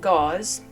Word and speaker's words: Gause: Um, and I will be pronouncing it gauze as long as I remember to.